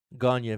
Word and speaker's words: Gagne: Gagne. C'est pas Gagné, son nom, c'est Gagne. Gagne. C'est vrai, correct. Gagne. Vern Gagne. C'est ça. Ça se prononce Vern Gagne. Pas Gagné, Gagne.